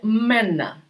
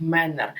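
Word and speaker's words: Männer: е наприклад ман чоловік він стає мена чоловіки мена і і теж зверніть увагу вже в кінці ри вони читаєте як мер менер так в деяких землях Німеччини буває так вимовляють менер але оце р в кінці воно всюда припідноситься Вверх і так переходив а менна а так само як наприклад у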